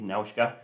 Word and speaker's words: Nausicaä: I've watched this several times in Japanese, so I'll call Nausicaa how she's pronounced in Japanese, Nausicaa.